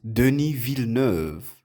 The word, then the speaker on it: Denis Villeneuve: It's pronounced Denis Villeneuve.